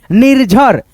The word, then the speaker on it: निर्झर: निर्झर, निर्झर, झ में रेफ की मात्रा है तो र यहाँ पे पढ़ा जाएगा निर्झर, ऐसे करके।